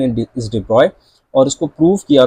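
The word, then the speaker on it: de Broglie: हम उसको उसकी जो स्पेलिंग है वो डिब्रोगली पढ़ते हैं। बट the pronunciation in इज़ डिब्रॉय और उसको प्रूफ किया था डेविसन एंड जर्मन जो डिब्रॉय के ही स्टूडेंट थे।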